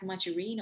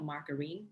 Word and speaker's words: margarine: consumption of spreads นะคะเป็นพวกที่ทาขนมปังเนาะ so we have margarine or margarine both pronunciation is correct low fat or reduced spreads and butter okay มีอยู่3อย่างถ้าดูเนี่ยเราดูเทรนด์เป็นยังไงอะเราดูยังไงมันมี3เส้นดูยังไง okay?